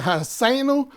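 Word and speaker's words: Ha'azinu: Y la enseñanza de hoy, o mensaje de hoy, es Hasinu. Hasinu, que significa, algunos pronuncian Haseinu, que significa escúchenme.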